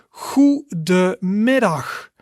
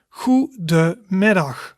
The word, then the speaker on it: goedemiddag: And a good afternoon is pronounced in Dutch as goedemiddag, goedemiddag, goedemiddag, and that means good afternoon.